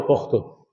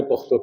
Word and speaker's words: پختو: مثال کے طور پہ یہ ایک لفظ پشتو اور پختو، ایک علاقے کے لوگ پشتو کہتے ہیں، دوسرے کے پختو کہتے ہیں۔ لفظ ایک ہی ہے،